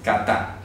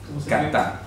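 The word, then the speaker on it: κατά: Kata. Kata. O sea, se escribe así.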